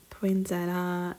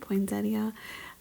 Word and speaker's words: poinsettia: I had to tear that one off and tear off that other little um poinsetta. Is that how you say it? Poinsettia.